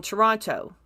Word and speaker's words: Toronto: they put in in Toronto for a while did you see that Toronto I I pronounced all the t's again I have been living outside the city for too long anyway the yeah the